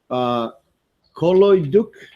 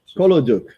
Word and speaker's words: Kolodyuk: Kolodyuk? That's right. Kolodyuk. So you're the first who pronounced this correctly for the last 5 days, it seems.